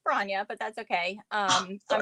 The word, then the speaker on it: Bronya: where you're from all that good stuff so gronia who are you yes um uh it's pronounced bronya but that's okay um i'm ronya it's